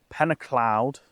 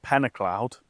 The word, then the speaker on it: Pen-y-clawdd: So, I'm at a lake in Wales and it's pronounced pennacloud. That's it. Penacloud.